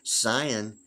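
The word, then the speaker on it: scion: IQ is 200 yet San is spelled s c i o n yet pronounced sometimes like a z like Zion I think about a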